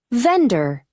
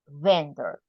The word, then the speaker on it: vendor: different drivers three p vendor okay there we have remember the pronunciation of the V right so vendor vendor vendor can you pronounce vendor